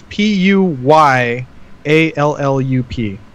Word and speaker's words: Puyallup: man I'm gonna have to I think it's PU y al lu p and it's pronounced Puyallup not QE QE l now it's